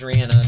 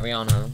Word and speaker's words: Rihanna: you know the rihanna her real name is rihanna not rihanna well they were asking